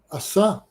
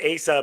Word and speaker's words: Asa: Uh, Asa. Asa. Okay, yeah, you pronounce it that way. I pronounce it Asa because I knew a bass player by this name, and so I'm just going by his name.